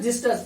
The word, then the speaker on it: xystus: फिर होता है जिस्टस, XYSTUS, जिस्टस यानी छायादार। तो ये एक्स का कुछ स्पेलिंग्स हैं, इनको हम पढ़ सकते हैं, हमारे